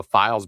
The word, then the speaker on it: Phials: So recently here, a developer who goes by the name of Files Basement, that's spelled PHIALS Basement, so Files Basement, has submitted a set